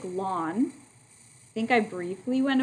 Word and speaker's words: ln: button that says ln which would be pronounced like this it's pronounced like lawn i think i briefly